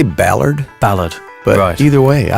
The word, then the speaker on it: Ballard: Frankie Ballard how do you say I say Ballard ballad but either way I like the way